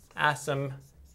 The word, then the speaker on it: asymptotes: So asymptotes. I don't really know why the P's in there, you don't really say it out, but it's how you spell it.